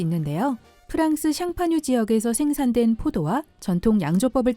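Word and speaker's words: Champagne: 프랑스 샹파뉴 지역에서 생산된 포도와 전통 양조법을 따른 것만이 그 이름을 붙일 수 있다고 합니다. 이는 샴페인의 스펠링을 프랑스어로 발음하면 샹파뉴인 것을 보고도 알 수 있죠.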